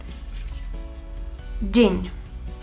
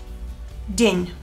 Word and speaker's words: день: День. День. Энни es muy suave, D es también muy suave. День.